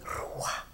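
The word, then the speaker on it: רוח: Se dice Ruah. Y este Ruah que pronuncian como tal es el mismo sonido de las palomas.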